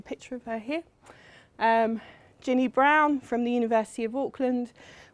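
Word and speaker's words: Braun: brown and Clark and it's pronounced brown not brawn so you're in the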